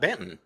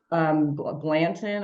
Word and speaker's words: Banton: Really, how do people pronounce it if it's not Banton? Blanton.